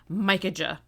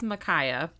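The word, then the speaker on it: Micajah: notes I was just saying his name Mika which I knew couldn't be right and I was just too lazy to look it up it's micaa it's spelled Mika he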